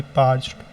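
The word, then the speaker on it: parched: Spelling याद रखिएगा। Important है। पी ए आर सी एच ई डी पाच्ड्ड।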